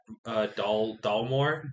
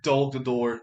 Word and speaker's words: Dol Guldur: So like I would say in the middle between middle and end, he's in the cage at Dalmore. Dol Guldur.